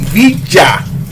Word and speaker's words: villa: It's actually Villa. Double L in Spanish is pronounced Ja.